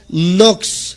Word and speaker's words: Knox: grandes hombres se llama Juan nox se escribe K n o x kn n o x